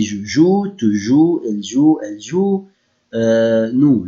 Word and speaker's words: joues: But when I pronounce it, I will not pronounce the letters I added except with nous and vous. So I say je joue, tu joues, elle joue, elle joue.